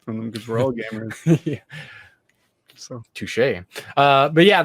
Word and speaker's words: Gvmers: I've been mentioning Gamers, spelled with a V, Gvmers.